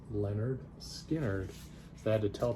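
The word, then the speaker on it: Lynyrd Skynyrd: copy of Leonard Skynyrd pronounced you know it's pronounced Leonard Skinner so I had to tell people how to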